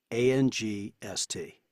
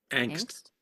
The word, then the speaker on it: angst: How would you each pronounce A-N-G-S-T? Angst. Yes. And I would be with you on that. And I got the correction back, and it's like, it's not angst.